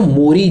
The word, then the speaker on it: Maori: करीबन 13% यहाँ के जो नेटिव मोरी बोलते हैं, MAORI, इनको मोरी प्रोनाउंस करते हैं, तो नेटिव्स करीबन